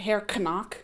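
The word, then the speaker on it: Herr: They actually pronounce it hair, but I'm just going to say knock.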